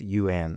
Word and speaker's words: yuan: sum of 2 million Yuan or Yuan I think it's pronounced uh which is approximately 282,000 I actually looked that up it is it's un according to Google uh which is approximately